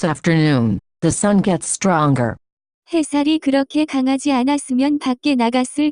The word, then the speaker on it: 햇살: The pronunciation of this word is closer to. 햇살.